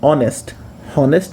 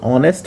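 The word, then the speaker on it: honest: हॉनेस्ट नहीं पढ़ते हैं, एच साइलेंट हो जाता है। ठीक है, इसको ऑनेस्ट पढ़ते हैं, तो उसके पहले एन का प्रयोग हम लोग करते हैं।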